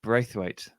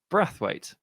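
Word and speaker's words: Braithwaite: with Martin brawe uh you may know as brawe apparently it's breth weight which I don't understand at all because there's no consistency whatsoever in that pronunciation based on the spelling of his name so is what it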